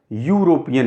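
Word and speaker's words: European: हो गया आपका वोवेल, लेकिन इसको हम हिंदी में उच्चारण करें यूरोपियन, यू, यानी या क्या है, यह है आपका कॉन्सोनेंट, यानी अगर ई देखा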